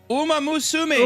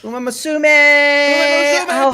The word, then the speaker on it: Uma Musume: How do you pronounce this? Uma Musume. Uma. Yeah, there you go. Uma Musume.